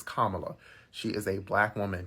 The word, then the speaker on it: Kamala: secondly kot Kamala cuz you pronounced it Kamala in your video it's Kamala she is a black